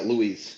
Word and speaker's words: Luis: Louis, is it Louise? Yeah, Louise. Yeah.